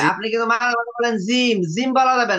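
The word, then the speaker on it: جيم: জু একটু খেয়াল করেন আকাশটা খেয়াল করেন জু জিম্ম পেশ জু জু জিম জু বললে জু বললে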